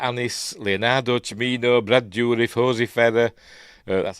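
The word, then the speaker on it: José Ferrer: Stars in an alphabetical order: Francesca Annis, Leonardo Cimino, Brad Dourif, Hosey Ferrer. That's how I pronounce it.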